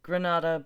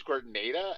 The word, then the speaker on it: Grenada: Well, because it looks like So Granada, but I'm pretty sure it's it is pronounced Grenada.